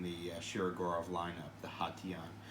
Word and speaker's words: Hation: share gaurav lineup the hot tea on I've heard people pronounce it as Haitian which is not correct very nice and there's